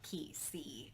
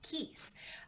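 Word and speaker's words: Kiese: keith layman i think i was saying the name wrong before of key c and i believe it's pronounced keys so yeah my fun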